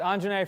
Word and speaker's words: Anjney: My full name is pronounced Anjney.